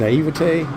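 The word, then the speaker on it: naïveté: things you know there's an i8 evety and naivete that's how you say it French I've never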